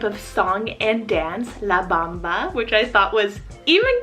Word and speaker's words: Bamba: So first one here, I have the name Bamba or Bamba, spelled B-A-M-B-A. Really depends on where you live in the world. I would probably do like Bamba, like Bambi, but Bamba, spelled B-A-M-B-A.